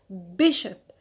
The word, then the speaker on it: bishop: that's why we say bishop it's on the peanut on b good so which rule it's